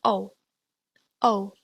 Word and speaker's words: u: Next is the U. This is pronounced oo, but not quite like oo in moo. Your voice should be directed to the middle of your mouth and not the front to produce a more rounded sound.